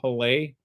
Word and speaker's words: Hole: It's his name is supposed to be pronounced Harold Halley, but John Oliver kept calling him Harry Hole.